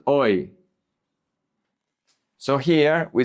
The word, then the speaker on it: hoy: The H is silent. Hoy.